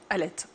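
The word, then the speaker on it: Aleth: à la fin non le TH à la fin pour l'écriture comme Élisabeth mais ça se prononce C Alette on dit B Elisabeth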